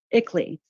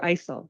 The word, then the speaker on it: ICLEI: I believe that acronym is pronounced ICLEI, but you can or ISIL. You can correct me which one.